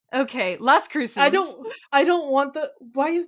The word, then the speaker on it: Las Cruces: are not pronounced how the actual words are pronounced in their original language. Anyways, Las Cruces?